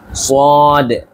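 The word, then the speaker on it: صاد: রয়েছে শিন শিন শিন সদ সদ সদ সদ সদ খেয়াল রাখবেন সদের উচ্চারণ করার সময় আপনারা স্ক্রিনে দেখতে পাচ্ছেন জিহবাটা আমাদের উপরের তালুর কোন জায়গায় লাগাতে হচ্ছে ঠিক এভাবে সদ সদ সদ ঠিক আছে খেয়াল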